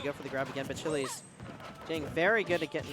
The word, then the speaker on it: Bachillies: It is Bachillies, everyone. So I've been mispronouncing it, but I will get the correct pronunciation from now on.